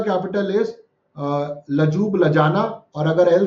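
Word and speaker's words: Ljubljana: Slovenia का capital is लजूब लजाना, और अगर एल साइलेंट है तो जूब जाना, दोनों में ही है।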